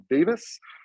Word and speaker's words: Davies: paul uh well i wasn't paul davies but i think paul pronounced it davis but um but who